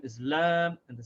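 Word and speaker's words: لام: And the name of the letter is lam. And the sound of the letter is just like the L in English, l, l. So the name is Lam and the sound is L.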